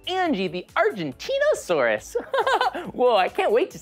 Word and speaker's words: Argentinosaurus: I'm Angie, the Argentinosaurus. Hi, Angie! That is a big name for a big dino. I have to break it up to say it right. Argentinosaurus.